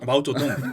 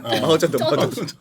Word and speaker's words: 마오쩌둥: 저동 마오쩌동. 마오쩌둥.